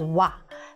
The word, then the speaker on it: は: this with a but even though the character itself is ha you pronounce it as wa so uh you just